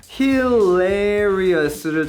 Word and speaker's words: hilarious: 자, hilarious를 적어놓고 요거를 이제 외울 때 발음기 확인 안 한 거예요. 그리고 안 들어본 겁니다. 그래서 hilarious 이런 식으로 외워놓으면 그러면 원어민이 hilarious 강세까지 포함해서 이렇게 발음했을 때 너 저 모르는 단어야 하고 넘어가기 쉽다는 거죠.